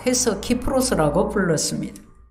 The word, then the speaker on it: 키프로스: 것 같습니다 취중 외에 키프로스 라는 솜이 있습니다 발음에 따라 사이프러스 라고도 하는데요 이 키프로스 라는 아